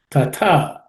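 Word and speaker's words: तथा: Tatha, again tha comes, same as yatha, has to be aspirated.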